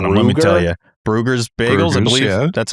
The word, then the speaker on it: Bruegger's: Let me tell you, Bruegger's bagels, I believe that's how you say it.